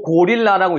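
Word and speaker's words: gorilla: 거예요 팬더 다가 아니라 더 그죠 뒤에가 약해지는 발음 여기 같은 경우는 강세 혹시 어디 있는지 아는 사람 요거 고릴라라고 읽잖아요 읽을 때는 강색 어디 있을까요 아닙니다 릴에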